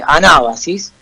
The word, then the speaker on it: Anábasis: los 10.000, Anábasis, así, con B larga obviamente y con acento en Anábasis, ¿no?